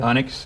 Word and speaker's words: Onyx: Now, there's a good chance that Eric might see a story that's in a national magazine, Onyx magazine. Did I say it correctly? Onyx, yes.